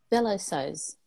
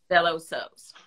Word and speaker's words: Velosews: directly to Velo v-e-l-o-s-e-w-s how do you say it again fellow says fellow says all right and say